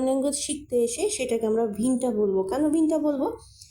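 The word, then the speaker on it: Winter: শিখতে এসে সেটাকে আমরা ভিন্নটা বলবো কেন ভিন্নটা বলবো কারণ আমরা জানি যে ডব্লিউ এর উচ্চারণটা ভয়ের মত হয় এখানে উইন্টার না হয়ে এখানে হচ্ছে ভিন্নটা ভিন্নটা মানে হচ্ছে শীতকাল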